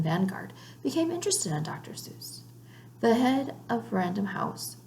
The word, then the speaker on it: Seuss: Ted had always pronounced his name in the German fashion Suess, but most of his readers said Seuss. Ted liked that this rhymed with Mother Goose, so he started saying Seuss too.